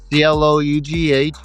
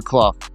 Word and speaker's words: Clough: And my slogan is enough is enough vote for Clough. That way people know how to pronounce the last name.